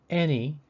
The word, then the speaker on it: any: me any bet both the a in any and the e in bet make the same short e sound e in terms of